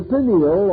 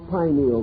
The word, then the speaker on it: pineal: years have passed uh the pineal or pineal gland either pronunciation is correct located in the central